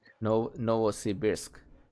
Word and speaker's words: Novosibirsk: Novosibirsk. Novosibirsk.